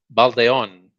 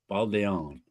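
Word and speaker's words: Baldeón: Baldon. Baldon. It's so It stresses the O.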